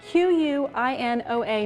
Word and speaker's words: quinoa: that not many people have heard of before it's spelled q-u-i-n-o-a maybe you've seen it on your grocery store